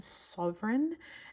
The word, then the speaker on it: Souverän: It's called a Pelikan Sovereign, and sovereign as in supreme ruler or supreme like king. So, you know, like Queen Elizabeth was a sovereign.